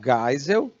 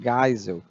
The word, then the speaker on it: Geisel: aos poucos a população o general Geisel pronuncia gás o que ele tem ascendência alemã ou é tem som de ar né então Geisel ele foi presidente 7479